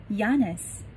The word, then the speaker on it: Giannis: 前面的 G 是不发音的，要念 Yannis, Yannis, antetokounmpo, Yannis, antetokounmpo.Yannis Antetokounmpo，还记得